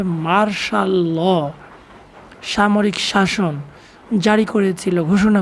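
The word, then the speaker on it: martial law: ইন 1958 সালে Ayub Khan declare, Ayub Khan ঘোষণা করেছিল মার্শাল ল, মার্শাল ল, এখানে অনেকে ভুল করবে, মার্টিয়াল বলবে, কিন্তু ওর উচ্চারণ হবে মার্শাল ল, সামরিক শাসন জারি করেছিল, ঘোষণা করেছিল।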